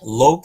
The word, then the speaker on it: Loc: And lo, do you pronounce it lo or lock? Uh I've been hearing a lot of lock. Lok is more of Vietnamese is something like my